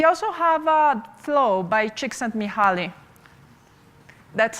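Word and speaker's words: Csikszentmihalyi: in history we also have a flow by chicks and muhuali that's how you pronounce that weird name by the way it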